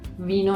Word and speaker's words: vin: Es como la palabra vino en francés. Vin. Vin. Vin.